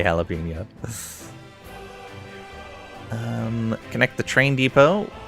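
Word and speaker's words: jalapeño: If I'm not uh pronouncing pronunciation policing unless it's someone saying jalapo and then I'm uh saying something. That is a very strange way to say jalapeno.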